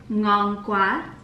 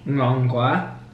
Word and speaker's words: ngon quá: Ngon qua. I know this one. Okay. Ngon quá.